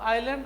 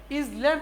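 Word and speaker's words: island: আইল্যান্ড অর্থ দ্বীপ। আমি আগে বলেছি ইসল্যান্ড উচ্চারণ হবে না, এস থাকলে এস এর উচ্চারণ কি হবে, সাইলেন্ট থাকবে, উচ্চ থাকবে।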